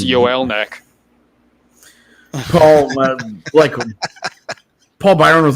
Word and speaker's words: Joel: I like Joel Armia a lot. I just like him as a player. He's not like a fancy player. Yoel.